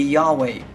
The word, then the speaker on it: Yahweh: by the consonants yhwh no one really knows how to pronounce this because it fell out of use for so long but many believe that the most likely pronunciation would be yahweh the name of jehovah